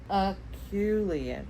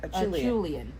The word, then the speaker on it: Acheulean: No, do not ever trust my pronunciation of anything. Acheulean. Acheulean.